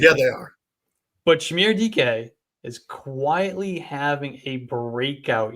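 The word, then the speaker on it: Dike: Is it DK? Yes. It's not DK. Dyke? It's DK.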